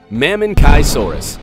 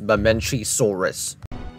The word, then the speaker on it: Mamenchisaurus: Mammonkaisaurus. I don't think that's how you pronounce it. I think the way to pronounce it is Mamenchisaurus.